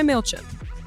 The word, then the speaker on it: Mailchimp: So, when you're ready to grow your business, try Mailchimp. And yes, that is how you pronounce it.